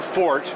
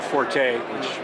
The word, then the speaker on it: forte: you name it now your fort which is the proper pronunciation or forte I guess equally appropriate sometimes is tie-downs